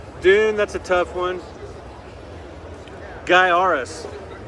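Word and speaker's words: Gaiares: that's a tough one guy arus the T-shirt ad actually told taught people how to say this oddly titled game it's spelled like guy or phonetically spelled guy arus great Sid scrolling shooter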